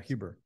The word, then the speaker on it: Huber: I think that's how you pronounce his last name. he sounds Huber. Chuck Huber. Yeah. Yeah. Huber.